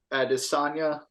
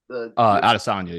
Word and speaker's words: Adesanya: It's Adesanya. Adesanya, yep.